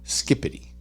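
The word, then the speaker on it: skibidi: TJ skibby is pronounced skippity skippity is it yeah it's pronounced like skippity but it's spelled with a B SK it's spelled SK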